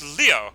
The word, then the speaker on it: Leo: It's written within the kanji for lion, to be sure, but it's pronounced Leo.